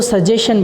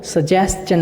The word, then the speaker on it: suggestion: उसके बाद जो हम गलती करते हैं, इसको सजेशन बोल देते हैं, जबकि सजेशन नहीं होता, वो सजेस्चन होता है। क्या बोलते हैं? सजेस्चन बोलते हैं इसको, सजेशन नहीं बोलते। जैसे क्वेश्चन को क्वेश्चन बोलते हैं, उसी तरह से सजेशन को सजेस्चन बोलते हैं।